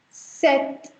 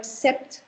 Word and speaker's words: sept: 7 is set. Set. Here, please notice that I am not sounding the P in the center. You don't call it sept.